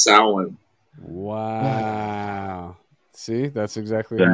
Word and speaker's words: Samhain: Everybody calls it Samhain, Oh shit! Oh. but it's actually Oh, man. pronounced Samhain.